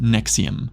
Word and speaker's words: NXIVM: NXIVM, pronounced Nexium, looked from the outside like a high-end self-help company with personal development courses that cost thousands of dollars per session.